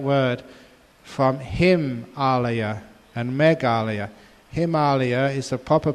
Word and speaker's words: Himalaya: Himalaya is the proper pronunciation of what we call the Himalaya.